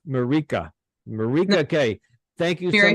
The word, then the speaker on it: Mirika: If the people heard how I was pronouncing your name in the beginning, it's not Mirika, it's Mirika.